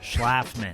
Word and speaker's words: Schlafman: Schlafman. Schlafman. So it's, people have butchered it my entire life. And so it's what I like to say, it's like, laugh.